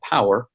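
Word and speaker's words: Powur: And through a company that I discovered through my friend, the company's called Power, P-O-W-U-R. It's almost like power, but it's spelled a little bit differently.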